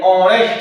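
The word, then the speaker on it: honest: जैसे होनेस्ट मैन ऑनेस्ट मैन ऑनेस्ट यहां कहां लिखे? यहां लिख देते हैं। सपोज़ करो। एच ओ एन इ एस टी आ गया समझ में? यहां पर ये साइलेंट होता है और ध्वनि स्वर की देता है।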